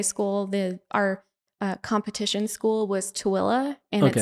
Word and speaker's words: Tooele: It's spelled Tooele. And it's just like, there's no way for you to get from that word to that pronunciation, like at all. Like, it's just not even possible.